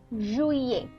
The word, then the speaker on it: juillet: First one is juillet. Juillet. Okay. So here the ILL is pronounced as E. Okay. So that's why you pronounce it as juillet, right?